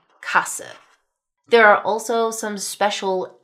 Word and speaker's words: Sparkasse: Then we also have 'st's and 'sp's that both have an 'h' sound inserted there so that you have 'sht' and 'shp' as in 'stop' (shtop). Or the bank 'sparkasse' (shparkasse).